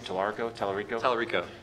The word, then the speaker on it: Tallarico: There was Tommy, how do you pronounce his last name? Tallarico?